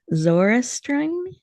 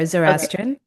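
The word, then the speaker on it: Zoroastrian: I give you full permission to help me pronounce it correctly. Uh, but let me try. Zorestron, I don't think I did that quite right. You're almost there, Zorestrian.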